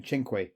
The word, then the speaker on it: Cinque: them were ever built hence the name chenqui which is Italian for five and yes that is how you pronounce it and it was made